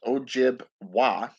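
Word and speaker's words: Ojibwa: totem or Aja Ojai but oh jib wah it's o-j-i-b-w-a is how it's pronounced and from what I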